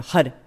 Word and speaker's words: Har: So for example, in Kundalini Yoga, we do a lot by rolling the R. So for the mantra HAR, H-A-R. If you can't roll your R's, which I can't, you use your tongue to create more of a D sound. So you flick the tongue on the roof of the mouth. So hada, hada, hada, hada, instead of hara, hara, hara.